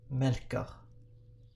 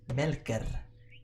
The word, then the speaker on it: Melker: spelled like this and in my dialect of swedish this is pronounced melkah with an uh at the end but uh in the